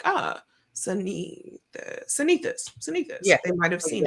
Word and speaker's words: Cynithis: But it's supposed to really be Cynethis, but the nurses thought that my mom could not spell Cynthia.